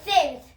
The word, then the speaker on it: tenth: So the TH in English will always pronounce it as th, right?